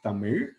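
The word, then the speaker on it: தமிழ்: which first of all it is not tamil or tamil it is tamir that itself is the word how you pronounce it and alphabet has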